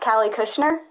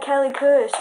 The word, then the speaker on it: Cali Kushner: So, my name is pronounced Cali Kushner. Yes, I do get a lot of crap for it. People are always like, "Oh my god, Callie Kush." And I'm like, "No."